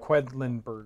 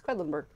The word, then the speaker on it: Quedlinburg: quentinburg yeah quinlanberg but it's Finland quacks of quedlinburg that's quedlinburg or just QQ okay we're playing QQ we're